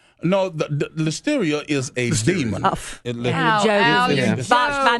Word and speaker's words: listeria: Do you have a member of your congregation that goes by the name Listoria? No, the listeria is a demon. Botched by mispronunciation.